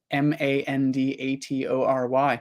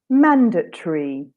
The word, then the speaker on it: mandatory: Mandatory. Okay, so I would say mandatory. Oh, nice, nice. So it sounds like you take the TOR and you make more of a schwa sound, mandatory.